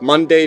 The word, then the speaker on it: Monday: week, Monday, Tuesday, and pronounce the second syllable so it rhymes with say. A small portion of the population, however, primarily in the South or Midwest, will say the syllable so that it rhymes with C.